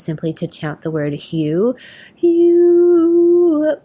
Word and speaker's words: HU: And one of my favorite ways to meditate is simply to chant the word hue. Hue. It's H-U, pronounced like the color hue or the name hue.